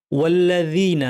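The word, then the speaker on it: والذين: ওয়াল্লাজিনা এখানে জালকে তরাফুল লিসান অর্থাৎ জিহ্বার শীর্ষ থেকে একটু ভিতরের অংশ এ অংশটাকে উপরের দাঁতের শীর্ষে লাগিয়ে জাল উচ্চারণ করতে হবে সুন্দর করে এটা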